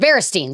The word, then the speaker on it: Berenstain: Berenstain Bears, which it's pronounced Berenstain.